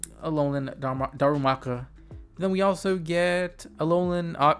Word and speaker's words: Darumaka: I can't really pronounce Darmacharla. That's wrong. We saw Lucario, but that's my biggest issue. I have a issue pronouncing a lot of these Pokemon names. Darumaka.